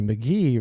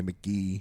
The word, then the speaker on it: Mk.gee: however you want to say it I say McGee McGee it's pronounced McGee has it on the record yeah pronounce McGee